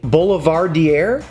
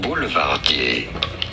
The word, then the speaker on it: Boulevardier: Whiskey, vermouth, red bitters, the Boulevardier. How do you say it? Boulevardier. Boulevardier. Boulevardier. In English, it is usually said as Boulevardier. Boulevardier from French Boulevardier. Yeah.